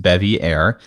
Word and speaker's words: Bevier: I think she wanted to go by Bevier, just so we're on the same page. She wanted to go by Bevier, but can confirm it's pronounced Bevier, and I will not apologize for pronouncing it correctly. It's like the Colbert thing, When he became famous, he went from Stephen Colbert to Stephen Colbert.